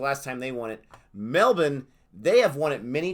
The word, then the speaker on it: Melbourne: melbourne beat guy long melbourne melbourne is how you say it that's good they have corrected me yeah we say melbourne but melbourne is how